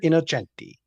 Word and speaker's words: Innocenti: Monsignor Innocenti. Innocenti. Okay. Yeah, the C in Italian's a CH.